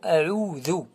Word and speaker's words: أعوذ: Alors, soyez attentifs à le mot a'oudhu. A'oudhu. Alors, dal mu'jama. Dhu. A'oudhu. A'oudhu billahi.